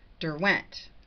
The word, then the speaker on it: Derwent: It's Derwent. That's how it's pronounced.